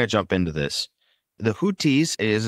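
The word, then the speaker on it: Houthis: but we're going to jump into this the hutis as it's pronounced in English or alun also known as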